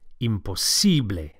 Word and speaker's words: imposible: it's impossible es impose don't forget to stress the sibley imposible to say for